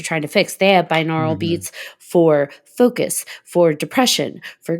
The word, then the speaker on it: binaural: binaural I don't B neural how do you spell it yall haven't heard of those uhuh it's b i n a u r a l binaural beats oh I got you binaural binaural yeah